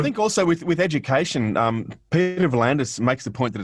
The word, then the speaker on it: V'landys: They pointed out, you look at his surname and the way it's pronounced, it's V'landys, not V'landys. Right. So that Y, he's accustomed to Y's being, so rugby league, because you don't call him Peter V'landys with that Y.